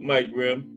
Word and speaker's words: Mike Rim: And I am now using the correct pronunciation of his name. Salute, Mike Rim.